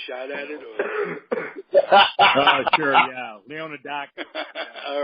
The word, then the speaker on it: Leonoudakis: John Leonoudakis, and as much as I tried, I'm sure I didn't pronounce it 100% correctly. You fucked it up, Ralph. You fucked it up, okay? Well, it's Leonoudakis.